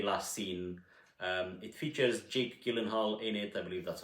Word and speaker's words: Gyllenhaal: It features Jake Gyllenhaal in it, I believe that's how you pronounce it, and it's all about him and his relationship with the woman in his life.